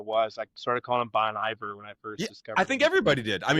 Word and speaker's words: Bon Iver: We had to do Google tra or pronunciation on his last name because I always said Bon Ivor and then several people have corrected me over the years.